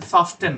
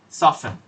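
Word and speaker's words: soften: হ্যাঁ, এটার উচ্চারণ কিন্তু সফটেন না, সফেন।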